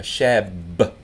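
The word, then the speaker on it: شابّ: A shab, double ba here, a shab, you got to kind of land on the ba to make it pronounce right, is a young man,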